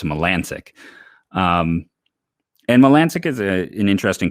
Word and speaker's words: Melancon: It looks like Melancon, but it's Melancic.